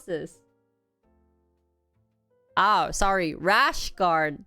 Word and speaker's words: rash guard: Lash guard is... 뭐라고 해야 돼? lash guard 영어 뭐야? 이게 콩글리시였어? Is that Konglish? Rash guard? How do you pronounce this? Oh, sorry. Rash guard, not lash guard.